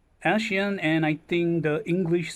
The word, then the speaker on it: Eshean: some translation error um she's pronounced as Asian and I think the